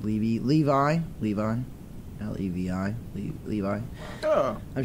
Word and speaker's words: Levi: Levi.